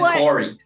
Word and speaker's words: Kari: Yeah, he said Corey, which rhymes with sorry.